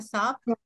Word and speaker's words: sobbed: ¿Saben qué significa sobbed? Cuando una persona llora mucho. ¿Llora con mucha pena? ¿Como sollozos? Sobbed. Sobbed. ¿Cuál es la letra? ¿Cómo suena la letra? Una D. Una D. Sobbed. Como robbed.